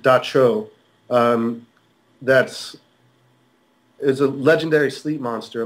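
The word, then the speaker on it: Dab Tsog: There was a creature called it's spelled DABTSOG, but it's pronounced Dacho.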